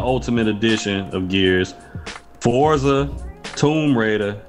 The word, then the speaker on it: Tomb Raider: edition of Gears Forza Tomb Raider not tumor Raider like some people pronounce in their videos shot tumor raater no